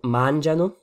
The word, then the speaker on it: mangiano: on a donc loro mangiano. L'accent tonique est sur la première syllabe, ou plutôt en réalité avant-dernière. On dit ici, pour utiliser un peu de jargon, que c'est strucciolo, donc que ça a glissé.